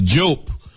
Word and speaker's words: Diop: Now, Sheikh Anta Diop, who wrote a series of books. This is the great African scholar from Senegal. Some people pronounce his name Diop, D-I-O-P.